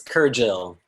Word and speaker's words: Kergil: you all skyler kergel is it kurgle is it a hard g skyler it's kergel her jill thank you i should